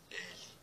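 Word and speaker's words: laku noć: Olha como é escrita essa palavra. L-A-K-U-N-O-C. Aí vocês vão perguntar, da onde vem o som de TS? É do C. Aí fica laku noc.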